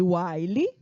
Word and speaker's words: while: essa aqui ó é o nome Uai lhe que se escreve desse jeito w h i l e certo e aqui dentro